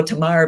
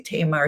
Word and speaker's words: Tamar: I would go Tamar because in Hebrew you usually put the accent on the end, but in America they usually say Tamar.